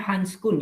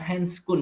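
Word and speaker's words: handschoen: outernya other dari hanscool nyebutnya handskun yang bukan henskul ya Khan karena ejaannya dari bahasa Belanda bukan bahasa Inggris ini kalau kan hendom tangan itu ya bukan ya icaan Belanda jadi disebutnya handskun dan Belanda kalo bahasa Inggrisnya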